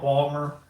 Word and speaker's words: Baltimore: We usually drop the middle syllable. Instead of saying Baltimore, we just call it Balmer.